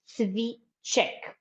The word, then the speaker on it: cviček: how does it look, it's written CVICE, and above this C, you see we have an accent, right? So that's why this C with an accent on the top, bravo Dunja, hvala lepa, we pronounce it at CH, okay? CH, cviček.